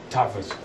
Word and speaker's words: Tattwas: Tattwas. It's a W, but it's pronounced like a V, kind of like in German.